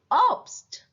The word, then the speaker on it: Obst: Same combination, stay, but when it comes at the end of the word or at the middle of the word, then it pronounced as st. Zum Beispiel Obst, fast, kosten,